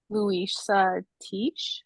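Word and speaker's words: Luisah Teish: Also, Jambalaya by Louisa Teach, I'm pretty sure is how her name is pronounced.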